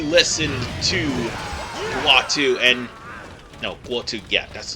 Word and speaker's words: Guo: No, Guo, yeah, that's how you pronounce his name.